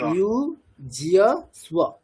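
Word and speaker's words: युज्यस्व: Next, দন্তের শৈব তার উচ্চারণটা কেমন আছে? স্ব, তাহলে ইউ জিয়া স্ব, ইউ জিয়া স্ব, বলুন।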